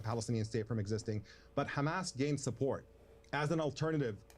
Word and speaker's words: Hamas: on this panel cuz none of them have pronounced it correctly it's Hamas and none of them